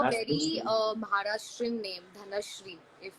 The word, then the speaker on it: धनश्री: धनश्री.